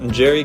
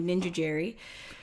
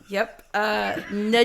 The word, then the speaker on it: Njeri: gymnastics, they called me Ninja Jerry. Yep. Njeri, I'm learning all kinds of stuff already. Njeri, Ninjeri. The people are just throwing letters in there that aren't there.